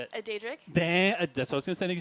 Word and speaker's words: Daedric: A Daedric?